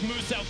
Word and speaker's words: Muselk: Now, Muselk wants you to know his name is pronounced as Muselk, the Australian-based content creator down there.